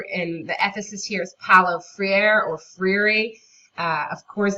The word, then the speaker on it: Freire: the Ephesus here's Paulo Freire or free of course those are both butchered American pronunciations of Portuguese or kind of Spanish sounding names of I have most often heard it pronounced free air but if you have